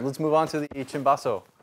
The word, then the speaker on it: cimbasso: The story is that chi, C is pronounced chi, so chi basso became cim basso.